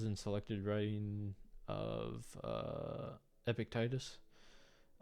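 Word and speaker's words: Epictetus: selected writing of uh epic Titus uh or epicus I think epic tetus is how you say his name um but yeah I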